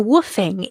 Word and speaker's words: WWOOFing: Now, woofing, for those people that haven't listened to Ursula's